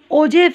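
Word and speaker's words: ogive: Graph इसको बोलते हैं, और इसको हम ओजेव भी बोलते हैं। ये देखिए यहाँ पे उन्होंने लिखा हुआ कि इसकी प्रोनाउंसिएशन हम ओजीव कर सकते हैं।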